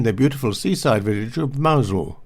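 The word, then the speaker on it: Mousehole: beautiful seaside village of mausol which is spelt mouse hole he sent a postcard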